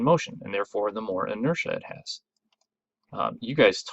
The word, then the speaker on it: inertia: our third definition is inertia and it's it's a weird word it's weird the way that it's uh pronounced because the ti is actually a sha sound so inertia right um is the